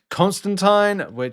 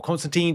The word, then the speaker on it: Constantine: We've also got Blue Beetle, we've got Constantine, or Constantine, depending obviously how you want to pronounce that, Katana.